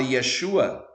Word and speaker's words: Yeshua: coisa Por que razão os gregos não dizem Yeshua como exatamente o som hebraico porque não poderiam Amém não poderiam fazer porquê Porque a palavra Yeshua tem o yod com o som de i